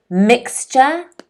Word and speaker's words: mixture: mixture can everyone say mixture at home mixture mixture okay the stress is on the first syllable there are two syllables